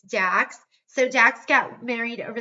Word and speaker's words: Dax: And by the way, his name is Dax. That means that's spelled D as in dog, A-X, not Max, not anything else. It's Dax.